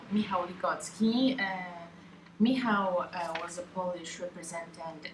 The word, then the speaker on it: Michal Ligocki: interview of our dear Michal Ligocki, I think I said it right. You didn't. Fuck. Michal Ligocki. Much better.